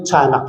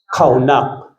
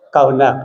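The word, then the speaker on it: חנך: The Hebrew verb commonly translated as train up in Proverb 22:6 is hindi po tanak yan. Makita niyo pronunciation is what? Kawunak. Kaunak yan kaunak it means what?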